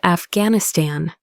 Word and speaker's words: Afghanistan: "It's pronounced Afghanistan."